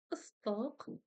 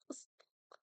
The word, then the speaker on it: ыстық: Так вот, здесь срабатывает стандартное правило ударения на последний слог.